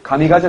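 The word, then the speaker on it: 神風: 그래서 힘이 불어주는 바람 신품 일본 발음으로 가미가제 라고 하는 거고 그래서 2차 대전 맛까지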